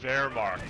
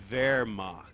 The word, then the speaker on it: Wehrmacht: And just the funny thing about this is that co-players, they all know that the W is a V sound, so they all know how to say Wehrmacht, right?